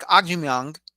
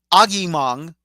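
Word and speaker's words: Agyemang: it didn't happen because Patrick Agyong, excuse me, Patrick Agimong, I have to make sure I pronounce his name correctly.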